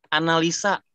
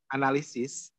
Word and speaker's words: analisis: Terus pernah saya bilang lagi, analisa. Katain lagi. Analisis.